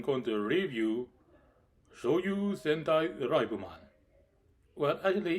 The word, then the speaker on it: Liveman: Hello, Brian the Fanboy here, and today I'm going to review Choujuu Sentai Raibuman. Well, actually, it's written as Choujuu Sentai Liveman, but I'm going to say the way it's pronounced.